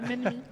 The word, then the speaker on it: Mensmi: Je le prononce bien? Oui, c'est ça, Menmi.